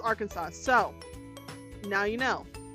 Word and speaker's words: Arkansas: Arkansas must be pronounced Arkansas. So now you know Arkansas, not our Kansas. Even though it looks like our Kansas and anybody outside of the states will call it our Kansas, it's Arkansas.